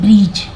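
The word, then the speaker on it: bridge: pool होता है तो जी के पहले कभी भी डी आए तो उसका प्रोनंसिएशन नहीं होता है उसका उच्चारण नहीं होता है वोह साइलेंट रहता है तो उसको नहीं पढ़ते हैं लेकिन लिखने के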